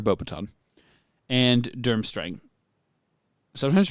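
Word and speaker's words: Beauxbatons: Bobbiton or sometimes pronounced Bobatan. Baton, but I prefer Bobaton and Durmstring.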